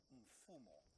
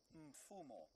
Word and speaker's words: Mfumo: And then the fourth one, Mfumo. Mfumo. M-F-U-M-O.